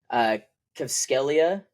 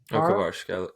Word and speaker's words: Kvaratskhelia: I can't pronounce his name. Kvskelia. Kvaratskhelia.